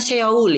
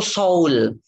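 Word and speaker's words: 서울: ya Soul eh Hai bacanya bukan Seoul ya bacanya itu Soul dalam bahasa Korea itu ada dua Oh yang pertama Oh biasa kayak mengucapkan soto yang kedua Oh kayak mengutak kaya mengucapkan orang menjadi bacanya ada Oh ada oh nah Seoul ini Soul bacanya pakai pong kayak mengucapkan orang Soul sama kayak kita dulu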